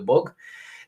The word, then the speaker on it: Bug: from my understanding it's it's just spelt in english or in russian like bug so i pronounce it the book this is quite a